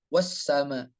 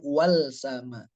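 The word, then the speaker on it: والسماء: contoh di ayat 2 kalau di ayat pertama di awal kalimat wassama Bukan Wal sama nah penyebutan yang telah Allah tetapkan membacanya adalah maka sempurna sekali Alquran yang telah Allah turunkan kepada kita dibaca dengan wassama Coba kita disuruh bacanya wall sama susah bacanya apalagi setelahnya itu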